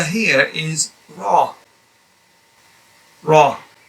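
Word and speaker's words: ر: This letter here is Ra. Ra. And as you notice, your jaws tuck inwards a little bit, and then your mouth goes oval.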